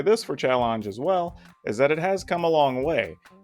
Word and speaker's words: Challonge: start by talking about challenge and yes it is how it sounds it spelled with an O instead of that first e for whatever reason it's